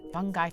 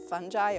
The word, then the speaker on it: fungi: For starters, first of all, pronunciation of fungi or fungi or fungi or fungi, it's all correct.